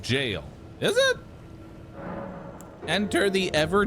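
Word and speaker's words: gaol: Goal is pronounced jail.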